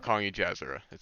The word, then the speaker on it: Jazzora: Wait, so it's pronounced Jazzora, not Jazzora? A lot of people say Jazzora, but Jazzora.